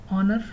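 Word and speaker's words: honour: ऑनर, respect, as silent है, respect करना, ऑनर्ड।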